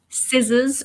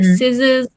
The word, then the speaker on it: scissors: so we have scissors scissors so the C is silent and the S is kind of like a Z sound so scissors comb well so the